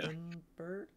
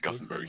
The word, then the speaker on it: Gothenburg: Gothenburg? Oh, yeah. Gothenburg, Gothenburg?